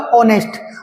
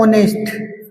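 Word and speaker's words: honest: इसको नेस्ट नहीं पढ़ते हैं इसको पढ़ते हैं ऑनेस्ट तो हिंदी में जो इसका उच्चारण होता है वो होता है ऑनेस्ट ऑनेस्ट तो दोस्तों अब इसके आगे हम ए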